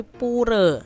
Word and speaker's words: pura: poor adik-adik ya atau kalau orang bali tuh bacanya bukan pura tapi puree ya Nah untuk hari